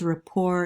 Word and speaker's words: rapport: first term here but a lot of people pronounce it in this french style where you're not pronouncing the t at the end so it's rapport how does elliot build rapport in the field work